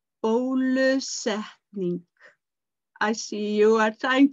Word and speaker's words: bólusetning: then you will be asked if you have been vaccinated, and it is bólusetning. Bólusetning.